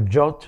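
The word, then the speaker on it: JWT: Java web in Javas JSON web tokens or jot they pronounce it yes that's fine what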